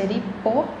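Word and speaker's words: 立法: Então, a pronúncia iripô, pô é mais alto.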